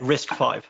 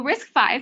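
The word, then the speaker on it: RISC-V: the open source community am I saying it wrong yeah risk v risk v oh there we go all right well risk 5 CPU architecture also become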